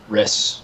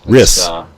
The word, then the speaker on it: Rys: Rys. Rys. Rys, like I'll get it right. Like Chris without the C.